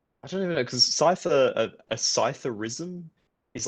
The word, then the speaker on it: Psithur: And you're like, "Cipher." It's spelt Psithur, which is ridiculous.